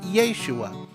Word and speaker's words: Yeshua: over translated name that in his day would have been pronounced yeshua likewise while jesus is